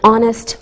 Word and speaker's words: honest: sound same with an honest man we don't pronounce the h we say a university